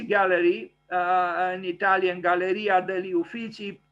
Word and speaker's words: Uffizi: So the Uffizi Gallery, an Italian Galleria degli Uffizi, pronounced, Uffizi, is a preeminent art museum located adjacent to